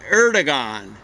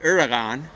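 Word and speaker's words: Erdoğan: uh things like that i gather you're supposed to just leave the geo but i've heard other things where you say kind of like maybe like the french uh are but uh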